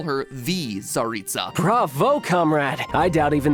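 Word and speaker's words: Tsaritsa: the ongoing plot of the game the mysterious zaritsa cryo archon of snijnaya the fact that i was able to pronounce that correctly should show that we not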